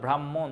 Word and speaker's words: ব্রাহ্মণ: দুইটা কিন্তু একটু আলাদা ব্রাহ্মণ এটাকে কিন্তু রম্য রম্য একটা রমের মত উচ্চারণটা হয় আর খেয়টা খ এর